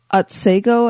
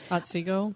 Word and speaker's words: Otsego: Hyde Hall overlooks Otsego, I guess, or do you know how to say it? Otsego.